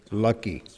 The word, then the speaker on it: Lakshmi: So sometimes Prabhupada pronounces Lakshmi's name Lucky. Did you know that? Have you read that? Doesn't that sound like an English word?